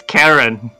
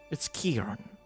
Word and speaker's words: Akiron: oh I thought it's Karen I know right it's not my problem that your name is so hard to pronounce it's akiron sir all right Karen